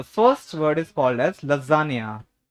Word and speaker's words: lasagna: तो प्लीज वहां से प्रोनाउंसिएशन मत सीख करके आना. ठीक है. हाँ. हाँ, the first word is called as लजानिया. लजानिया.